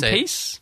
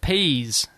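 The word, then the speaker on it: Pease: You're saying Peace? How do you say Whereas I pronounce it Peas. Peas. Pass the peas. Yes. Pass the peas. I don't know. I thought it was I'm not sure how he actually pronounces it, but that's my Australian pronunciation.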